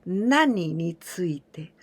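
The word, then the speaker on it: 何について: Here again, there are some people who said 何について, but this is too casual and it's not so correct, okay? The correct one is 何について.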